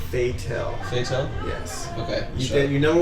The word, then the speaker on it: Fatel: Mitch Patel. How you doing today, Mitch? It's pronounced Fatel.